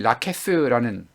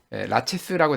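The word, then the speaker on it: Laches: 터키인들이 그랬다 이렇게 이야기했고이 라켓스라는 작품에서 본문에서는 그 라체스라고 되어 있지만 그리스어로 치면 라켓스라고 되어 있습니다 이건 아마 프랑스어와 그 다음에 그리스어의 발음 차이 때문에 그럴 텐데 소크라테스는 이제 라텍스라는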